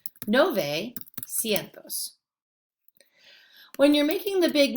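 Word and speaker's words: novecientos: Now, nueve, again, has a lot of syllables, so they make it sound more like noventa. Nove cientos.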